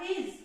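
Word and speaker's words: his: मात्रा लगी ही, और एस का साउंड यहाँ पर ज निकलता है, तो ये हो गया हिज।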